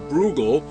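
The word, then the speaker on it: Bruegel: this period was peter brugel and i might say he spelled his name b-r-u-e-g-e-l and undoubtedly pronounced it brugel this is the fall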